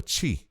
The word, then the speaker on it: tshi: That's TSHI, a chi. That's how you say it, which indicates a marked or memorable experience of the action of that verb.